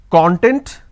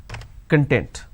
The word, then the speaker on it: content: I can either pronounce this as content or I can pronounce this as content. So content, content. We don't really understand what to be used where. That is where we make a mistake. Now when we pronounce this as content, the meaning it means an ingredient or index.